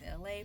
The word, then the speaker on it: Elay: And my name is LA, pronounced like the city.